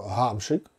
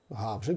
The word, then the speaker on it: Гамшик: України хокеїст відомий це пишеться мусить писатися і вимовлятися через г гефрикативну так само гамшик гамшик прізвище гамшик або прізвище гавличек І ще дуже